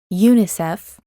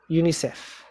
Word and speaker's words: UNICEF: letters okay let's see which are the abbreviations that are pronounced as words we know that aids also narrow then OPEC also pin this is the same in Spanish and UNICEF excellent so the rest of